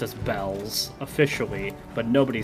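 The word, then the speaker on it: Baelz: But the official pronunciation is bells.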